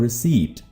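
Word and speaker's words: receipt: रसीद की English रिसीव word से मिलती जुलती है जो कि है रिसीप्ट। इसमें पी प्रोनाउंस नहीं होता। पी साइलेंट है।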